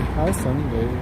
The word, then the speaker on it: Houston: It's funny, it's spelled exactly the same as Houston, or the city of Houston, and they say Houston, and the street, this one here, Houston, and they say Houston, they don't say Houston.